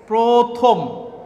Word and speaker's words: প্রথম: ধরো একটি শব্দ প্রথম, প্রথম শব্দটির মধ্যে র ফেলা আছে, কিন্তু এই শব্দের উচ্চারণটি আমরা যখন লিখব তখন লিখব প্রথম। বুঝতে পারছো যে র ফেলা যুক্ত শব্দ লেখার সময় প্রথমে ওকার যুক্ত করে লিখতে হয়।